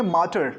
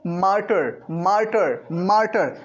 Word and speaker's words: martyr: चलिए आगे बढ़ते, नेक्स्ट वर्ड हमारा है MARTYR, इसको बोलेंगे मार्टर। क्या बोलेंगे बच्चों? इसका प्रोनाउंस करेंगे इसको मार्टर, मार्टर, मार्टर।